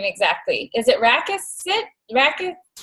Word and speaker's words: Rakisits: how do you pronounce your last name exactly? Is it Rakisits? Rakisits? Rakisits.